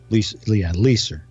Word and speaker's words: Leiser: You're mispronouncing his name, by the way. Did I do that? Leiser, as Joe corrected you.